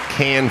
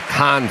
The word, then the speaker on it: Cannes: Yeah, if you hang around long enough, it was the Cannes Film Festival, and then it became the Cannes Film Festival, and then I think it went back to Cannes, at some point.